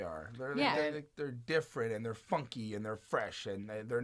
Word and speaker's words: Phuncky: It's funky, but it's spelled Phuncky. So it's a whole new funky way of spelling it.